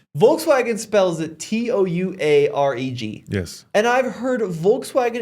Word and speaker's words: Touareg: There are a lot of people in the brand who don't, but it is Touareg. It's not Tuareg. The British say Tuareg.